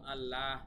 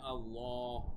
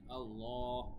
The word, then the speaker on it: আল্লাহ: হলেও আল্লাহ শব্দটা কিন্তু আল্লাহ এভাবে উচ্চারণ করা যাবে না পড়তে হবে আল্লাহ ঠিক আছে আল্লাহ লামটা একটু মোটা করে পড়তে হবে তবে বিশেষভাবে খেয়াল রাখবেন